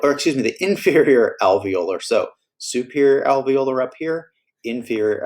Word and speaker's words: alveolars: these two alveolars now the alveolars kind of rhymes with molar and these are your